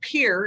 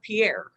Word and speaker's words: Pierre: It's pronounced Pierre and not Pierre.